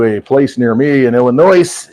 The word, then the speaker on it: Illinois: place near me in Illinois Illinois s is silent for all of you